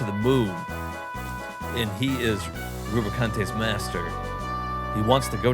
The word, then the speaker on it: Rubicante: Where is Rubicante? Lead us to I always thought it was like Rubicant or something, but I guess they pronounce it Rubicante.